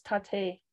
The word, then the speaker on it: Taté: the Prairies punctuated consonants my name is Tate and there's an accent on the E thank you and I